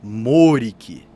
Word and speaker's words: Maurik: chanar é um título o nome verdadeiro dele é maurik m a u r i k maurik mas a pronúncia é mork e o nome chanar